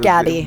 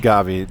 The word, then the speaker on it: Gabi: It's pronounced Gabi. Gabi, German pronunciation.